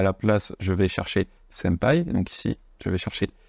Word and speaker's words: senpai: D'ailleurs, on reviendra sur la prononciation, que évidemment c'est senpai, ça ressemble à un M plus qu'à un N.